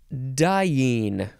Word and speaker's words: diene: particularly helpful or interesting the next word dying I do I sound like I'm dying this one is spelled